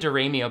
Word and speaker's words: DiRamio: I pronounce it DiRamio, by the way.